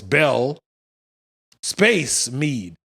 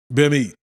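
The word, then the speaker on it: Belle Meade: i said thank you so now i know it's bell space mead not bimmy you should bleep it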